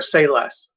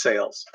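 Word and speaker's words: Sayles: he's written other things i'm not sure if it's pronounced sales or say less which is kind of funny because as a writer say less would be it's spelled s-a-y-l-e-s i believe it's sales moon unit zappa gregory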